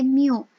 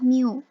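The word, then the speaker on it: μ: yang membedakan disini itu ada nilai Mio jadi bacanya itu adalah Miu Miu Miu Miu es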